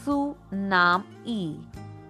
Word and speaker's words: tsunami: Tsunami, pronounced as Su-nam-e.